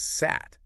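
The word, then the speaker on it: сад: don't vibrate exactly so you have an underlying form like sad meaning Garden but because of this rule it gets pronounced as sat with a voiceless T at the end ah okay so the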